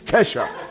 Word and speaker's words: Kesha: Always sounds like ketchup, but it's Kesha, right?